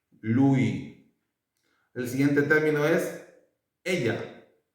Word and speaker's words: ella: El siguiente término es ella. Ella. Ella. Si se fijan, se ocupa la doble L y en español la doble L se pronuncia como la letra G, como la G, ¿cómo es?